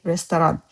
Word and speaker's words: restoran: We have it restoran. We write as restoran. We say restaran.